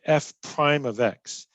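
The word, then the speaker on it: f′(x): write it like this f apostrophe x we say f prime of x so f prime of x is how you say it it's a limit limit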